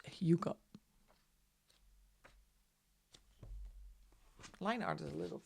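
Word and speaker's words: hygge: months to find out how do you pronounce Hugo? people had to teach me. And actually, my daughter has a best friend who comes from Sweden. So, she taught me how to pronounce Huga.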